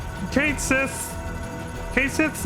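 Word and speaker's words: Cait Sith: month or two and said that it's going to be pronounced Kate Sith and not k shei or something else and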